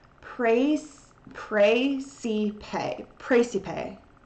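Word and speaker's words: Praesepe: which is pronounced praise pray see pay praise to pay it's like literally like pray and then see and then pay like pay money um and it's right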